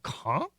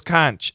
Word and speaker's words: conch: Until this day, today, I thought the pronunciation was conch. I thought it was conch. And I'm sure other Americans also say conch. But it's not. It's conch. Yeah, it's a hard CH. It's a K.